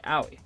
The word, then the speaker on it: Aoi: I think it's Aoi, yeah. It's like Yaoi, but without the Y. Aoi, yeah.